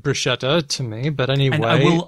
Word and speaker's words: bruschetta: No, that's actually the way that an Italian speaker would do it. And in fact, Bruschetta.